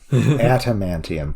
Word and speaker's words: adamantium: Adamantium. Thank you. And Ada. That's what I said. I thought you were putting a hard T in there. It's a D? It's a D, yeah.